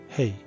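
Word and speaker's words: ה: And sometimes it's pronounced without any sound also. H. Especially when it comes at the end of the word. H. Hey.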